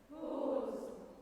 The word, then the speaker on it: bosom: Bosom. So the second syllable is not as loud, correct? The first syllable is the syllable that gets the emphasis.